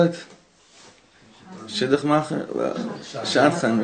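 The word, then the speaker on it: שדכן: Shadchan, right.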